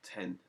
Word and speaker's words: X: And welcome to this brief little walkthrough over the new anticipated Logic Pro X, or 10 as it's pronounced normally.